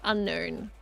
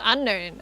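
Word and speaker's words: Unown: Japanese name is in katakana, so it should be pronounced unknown. Should be pronounced unknown.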